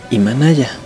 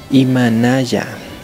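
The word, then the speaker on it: Imanalla: Hola, es Imanaya. ¿Cómo se escribe? Por favor anoten. La I, la M, A, N, A, L, L, A. Imanaya. Tal como estoy diciendo.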